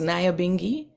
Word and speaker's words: Nyabinghi: okay and they also don't know how to say this is Naya bingi when they feel it